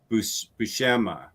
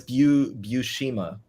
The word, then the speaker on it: Buscema: kind of struggled with Buscema. Buscema? Buscema? Bushima. What? Bushima? I believe it's Bushima.